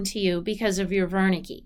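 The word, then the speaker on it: Wernicke: so these are the Verna key and the Gnostic and Verna key is a German word so it's spelled with a W but it's pronounced like a V the Verna key is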